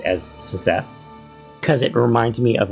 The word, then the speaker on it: Szeth: cette now I know the audio books pronounce this character's name as Seth but it's spelled s z e t so as I was reading this book originally I pronounced as cette because it reminds me